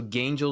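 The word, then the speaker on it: Gaingels: love the name so gangel is spelled uh g a i n g LS you know so like gain as in you gain something Angels you know so gangel g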